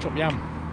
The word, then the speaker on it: Chop Gate: Chop Gate, and Chop Yam in Glaisdale. Yeah, that's how you say it. Apparently, you Yam. say chop gate, you say chop yam.